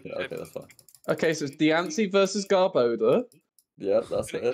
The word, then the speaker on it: Diancie: It's Diancie versus Garboda, though. Yeah. What happens? I wonder what Garboda will use. It's pronounced Diankee.